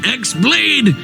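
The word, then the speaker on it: χ-blade: yeah he means the x blade it's just pronounced like keyblade even though it's just one keyblade ah the series is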